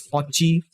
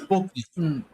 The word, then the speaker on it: Pocky: By the way, I think Pocky should be pronounced as Pochi because that is how the Grand Blue characters say it. Yeah, they say it to avoid a lawsuit. That's all. It's Pocky.